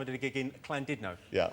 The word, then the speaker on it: Llandudno: And a bloke down the front, face like thunder, went, "It's not Llandudno, you bloody fool. It's Llandudno. In Wales, the double L is pronounced with a C."